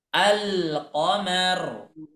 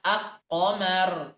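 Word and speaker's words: القمر: tetapi ikut ter terbaca Jadi dibacanya gimana alqomar tidak dibaca aqqomar tidak ya tapi dibaca alqomar semuanya dibaca jelas sama Apabila ada lam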